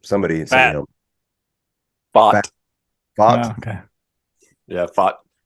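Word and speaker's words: Pfaadt: Fott.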